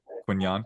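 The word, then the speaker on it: Quinyon: quinan is good uh it's two syllables so quinan it's pretty it's pretty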